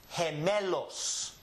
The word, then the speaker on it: gemelos: So if I have a word like this one right here, this is pronounced he, me, los. Gemelos. Gemelos. Gemelos. It starts with an H actually.